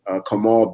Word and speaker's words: Kamal: is our special guest tonight on this episode, Kamal Bell. Am I pronouncing your first name right? Yes, you are. You are. Cool. So how are you, Kamal?